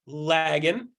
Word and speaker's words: Lagan: Hey, Jeff, my name is pronounced Lagan, like rhymes with wagon.